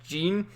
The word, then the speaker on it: Jin: ] man because honestly gene i keep calling him jin because it's spelled jin but it's pronounced gene he was my favorite